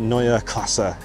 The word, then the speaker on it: Neue Klasse: here this is why we're here the BMW NOA classa X there you can see how it's spelled right there and yes that's how it's